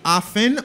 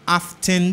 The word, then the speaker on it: often: Le mot c'est often, ou ka di often tout si ou c'est anglais, soit vivant en Angleterre, mais américain dit often, t a pas prononcé.